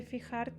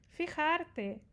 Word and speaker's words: fijarte: Fijarte, aqui o J, não esqueçam dessa pronúncia, fijarte. Na América Latina eles falam mais suave o J, tá? Então, fijarte, não fijarte é mais na Espanha.